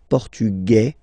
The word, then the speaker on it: Portugais: Masculine, Portugais, you don't pronounce the S. Feminine form, Portugaise, you pronounce this Z sound, okay?